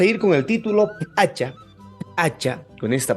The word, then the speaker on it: p'acha: destino vamos a ir con el título hacha hacha con esta pronunciación hacha sí hace referencia a la prenda En otras